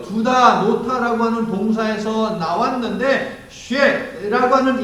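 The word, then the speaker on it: Sheth: 하나님께 내게 가인이 주는 아벨 대신에 다른 씨를 주셨다 하며 하나님은 하와의 태를 다시 여셔서 셋, 정확히 발음하면 쉐, S-H-E-T-H, 쉐뜨라고 하는 이 발음이 되겠습니다.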